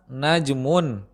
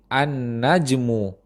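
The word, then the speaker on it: النجم: Seperti kata najmun, yang berarti bintang. Jika didahului oleh alif lam tertentu di awal kata, pengucapannya menjadi annajmu, bintang itu.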